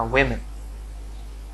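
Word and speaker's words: woman: যে জিনিসটা আমরা ওমেন ওমেন ওমেন না ওয়েমেন, হ্যাঁ আমরা বলি যে ওই সেটা একটা ওয়েমেন, মহিলা, বা ওম্যান, উইমেন, কোনটা আমরা উচ্চারণ করবো?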